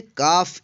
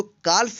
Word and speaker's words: calf: CALF, इसको पढ़ेंगे काफ। इसको काल्फ नहीं पढ़ेंगे। क्यों? क्योंकि एफ से पहले एल आया है, इसलिए एल जो है साइलेंट है।